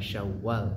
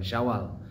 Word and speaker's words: Syawal: dan syaal ya Jadi yang benar pelafalannya adalah Syawal bukan Syawal tapi Syawal pakai tasdid ya 1 syawal 1445 Hijriah